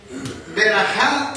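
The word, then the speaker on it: בְּרָכָה: Verajá se dice en hebreo.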